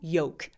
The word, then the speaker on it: yolk: LK님, yolk에서 L은 다크L인가요? 아예 묵음이 돼요. walk 할 때 L 발음 아예 안 하는 것처럼 walk처럼 yolk, L 발음 안 합니다. 그래서 발음 끼고 보시면 아마 L 발음이 없을 거예요. 99% 확실한데 또 아니면 어떡하지? 그럼 그냥 인간미가 있는 거죠. 틀릴 수 있어. 자, 그래서 yolk 아니고 yoke 해주시면 돼요.